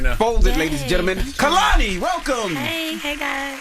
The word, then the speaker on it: Kehlani: It's very important that during this era of my life, I let everyone know that my name is pronounced Kehlani. Who said otherwise?